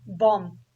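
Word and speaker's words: bomb: अच्छा, find out the words having the given silent letter. B, बॉम्ब।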